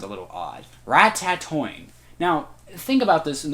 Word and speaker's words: Ratatoing: way you say it it sounds like there should be four T's in there not three right see rat tat